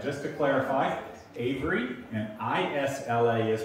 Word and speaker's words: Isla: to clarify avery and isla is pronounced isla just like island think of it that way just take the the nd off it's isla and that's